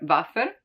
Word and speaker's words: Waffe: While for Waffe, for example, since it comes from German and that's how they pronounce it, it stays as Waffe.